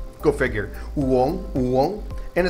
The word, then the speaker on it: uống: Uống. And it's got the little shock tone going up, so it's uống.